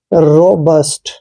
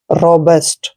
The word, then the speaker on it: robust: RO का उच्चारण हमने रो करना है ऐसे, और BUST को आपने बस्ट पढ़ना है, ना कि बुस्ट, ठीक है, रोबस्ट।